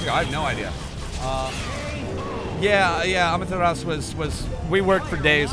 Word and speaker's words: Amaterasu: Amaterasu. Yeah, no, the U is silent.